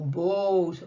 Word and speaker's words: boat: Oh, boat. Oh. Two vowels go walking. The first one is the only one that does the talking, and the second one is quiet.